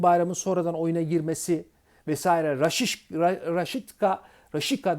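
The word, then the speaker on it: Rashica: sonradan oyuna girmesi vesaire raşişka düzelterek söylüyorum ya da raşitsa diyorlar Bence rakika doğru telaffuz raşita'nın harika performansına rağmen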